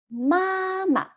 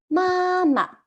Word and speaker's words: 妈妈: We repeat the first syllable and say 爸爸. Great. How to say mother in Chinese is 妈妈. 妈妈.